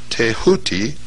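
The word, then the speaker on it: Thoth: ibus headed scribe of the God's tho pronounced tahuti the so-called Emerald Tablet of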